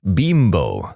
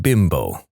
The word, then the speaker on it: Bimbo: off in America because we don't pronounce bimbo like the Mexican manufacturer does they pronounce it bimbo not bimbo as much as that